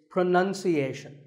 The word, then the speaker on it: pronunciation: pronounce pronounced and pronouncing but pronunciation there's no noun in this word it's pronunciation word number two is